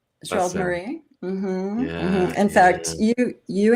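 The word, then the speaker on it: Gérald Marie: How do I pronounce Gerard's last name? Gerald Marie. Gerald Marie.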